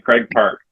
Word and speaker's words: Craig Park: Craig Park.